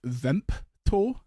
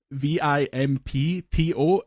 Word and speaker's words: Vimto: What what can you tell me about a Vimto energy zero? Uh so confusingly it's pronounced Vimpto v i m p t o at least it as in Scotland they pronounce it Vimpto.